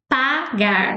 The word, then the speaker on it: pagar: Pagar. So to pay. If you say pegar with the A in English, it sounds like to catch or grab something. So be careful with the pronunciation.